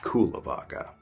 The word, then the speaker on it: Cullavagga: Cullavagga, spelled like Kulavagga.